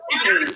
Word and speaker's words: Njambi: That's why you heard her say, do not mispronounce her name. Now that you know it's Njambi, say it right.